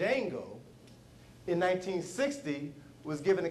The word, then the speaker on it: Django: to him and says what's your name Jango do you know how to spell it DJ a n g o and the guy